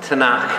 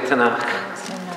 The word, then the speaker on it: Tanakh: T and K, this is how to say the Jewish Bible. Tanakh, everybody say Tanakh.